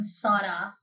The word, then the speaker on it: sauna: So, yeah, I know that's the right pronoun- I'm not sure if that's the way you pronounce it, but it's not sauna.